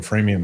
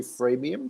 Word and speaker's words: freemium: And there are different ways to do freemium. So I think a lot of people just focus on the first syllable of that word and forget about the second syllable sometimes.